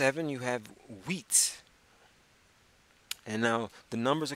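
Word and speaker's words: huit: H you I T the H is silent and you're left with the UI and the team wheat and that's how you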